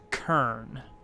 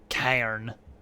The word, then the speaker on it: Kern: how that worked out kern that's what it is never pronounced cairn all right so uh